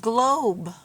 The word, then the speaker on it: globe: g l o b remember the e the end is silent so what's this word yes it's the word globe so which one of these pictures matches the word globe Yep this one this